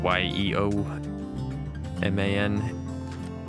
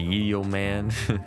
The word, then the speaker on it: yeoman: a a yeoman apparently I mispronounced it in the last episode or two episodes ago y-e-o man I thought it was a yield man Yeoman anyways cancel that we